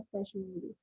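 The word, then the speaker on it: specimen: जेन इज अ स्पेसिमेन और faultless, इसके दोनों प्रोनाउंसिएशन है, आप दोनों को आप प्रोनाउंस कर सकते हैं, स्पेसिमेन और स्पेशमेन। और फॉल्टलेस ब्यूटी।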